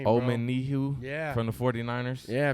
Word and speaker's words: Omenihu: And then we picked up Charles Omenihu. Is that how you Yeah, pronounce I think it? you're pretty spot on with that name, bro. Omenihu Yeah.